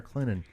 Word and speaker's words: Clinton: presbyterian college down in clinton south carolina that's where the t is sweet and the t is silent i don't know if